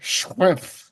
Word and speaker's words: Schrempf: And yes, you pronounce every letter Shrimp.